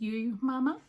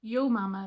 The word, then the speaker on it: Ewe Mamma: little yarn shop called, I pronounced it Ewe Mamma because it's spelled like the sheep, E-W-E. Turns out people in Fermanagh pronounce that yo, not you. So Ewe Mamma makes sense in that context.